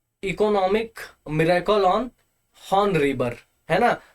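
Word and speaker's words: Han: Miracle on horn river, है ना। तो हॉर्न नहीं, सॉरी, हान रिवर, है ना, हॉर्न बोलता हूँ, थोड़ी सी प्रोनाउंसिएशन मेरी वीक है, इन सब माफ कीजिएगा, ठीक है।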